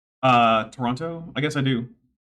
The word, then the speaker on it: Toronto: You pronounce the second T in Toronto. Uh, Toronto. I guess I do. Do the Do the Torononians Toronto? It's Toronto. Toronto.